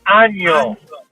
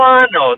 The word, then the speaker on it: Año: Feliz año. Año. Año. Feliz Año. Año. There you go. Año. Yeah, man. No ano. Don't say ano because ano is something totally different.